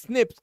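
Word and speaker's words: SNPs: where single base DNA differences single nucle polymorphism pronounced Snips occur in humans this imion promises to revolutionize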